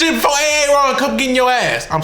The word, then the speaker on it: Aaron: GROWING UP WITH A NAME LIKE AARON IN the South WAS ALREADY DIFFICULT ENOUGH. ALL RIGHT? are like, "Aaron? Aaron? Aaron?